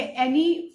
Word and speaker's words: Anne: ये एनी Frank की जो बुक है, बहुत लोग इसको एन प्रोनाउंस करते हैं, बहुत लोग एनी प्रोनाउंस करते हैं. इट डिपेंड्स, अलग अलग लोग एनी, कुछ लोग एनी फ्रैंक बोलते हैं, कुछ लोग एन फ्रैंक बोलते हैं. So both are correct.